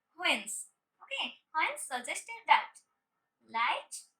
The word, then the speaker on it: Huygens: The scientist Huygens suggested that students, this one is Huygens, but Huygens Dutch के scientist थे, इसलिए we pronounce that Huygens.